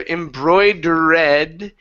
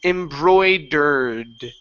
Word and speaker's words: embroidered: better embroidered embroid okay now the e at the end of these words we do not pronounce it instead of embroided it's embroidered embroidered there you go good